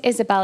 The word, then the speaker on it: Ysabel: the next few days so my name is Isabelle it's pronounced Isabelle it's just spelled a bit weird um and